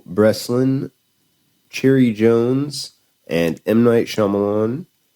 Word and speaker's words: Shyamalan: Um, or Shyamalan. I did it again. I'm just gonna That's why I've been saying might because I cannot pronounce this. Shamalan.